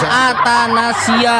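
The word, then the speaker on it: athanasia: Antahanan itu bacanya atanasia.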